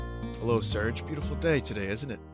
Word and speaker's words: Serge: so I called listen I say Serge I know some people want me to say Sergei like voice it's spelled here yo Sergey see now